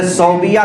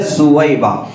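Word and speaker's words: ثویبہ: باندی تھی حضرت سویبہ، جن کو عام طور سے صوبیہ کہا جاتا ہے، صوبیہ لکھنے میں صوبیہ دکھتا ہے لیکن حقیقت میں اس کا تلفظ ہے سویبہ۔ تو حضرت سویبہ تھی،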